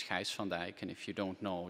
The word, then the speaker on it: Gijs van Dijck: this is my name it's unpronounceable in english it's actually better in czech so it's heist van dyke and if you don't